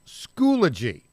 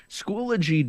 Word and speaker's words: Schoology: Tell us about this company called, I think it's pronounced Schoology.